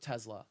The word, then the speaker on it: Tesla: a s make a Z sound when you say Tesla Skittles but Subway sandwich